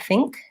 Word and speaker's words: think: try the word think in the word think even though it's spelled with MK it actually has that ng sound so I don't say thin there's not an N and think this sound here is the ng so this is the IPA for think and most people will pronounce this correctly they will be saying think with an NG because same thing is